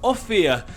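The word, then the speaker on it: Ophir: the area was named offia it spells o-p-h-i-r go figure out how to pronounce that offi is one of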